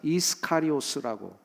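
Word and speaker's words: Ἰσκαριώτης: 이거를 원어에서는 이스카리오스라고 이제 영어에서는 번역하고 그 헬라어 원어도 거의 비슷한 발음입니다.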